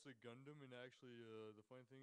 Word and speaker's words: Gundam: childhood toy is an anime robot called a good damn which I'm not familiar with Alice Juarez and actually it's pronounced the Gundam and actually the point thing is I kamala